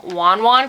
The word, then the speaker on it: Want Want: are super addictive now it's spelled want want but it's actually pronounced cuz she's Taiwanese she pronounced them Wan Juan cookies or one one